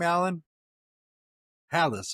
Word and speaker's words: Hallis: Allan Halis. Okay. Oh, like Hel.